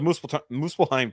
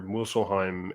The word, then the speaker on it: Muspelheim: Because Dormammu's in there, Muspelheim, and he didn't spell it right because there's an F in it. Muspelheim. It's a P. Muspelheim. Muspelheim. Is that like it's not type slime. of seafood? No, it's Muspel. There's it's M-U.